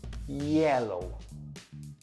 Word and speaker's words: yellow: Another common confusion is the Y and the J. When you're talking about this color, say it like this, yellow. When you're talking about the dessert, say it like this, jello. Can you hear the vibration in my J's and the soft, smooth sound in my yellows?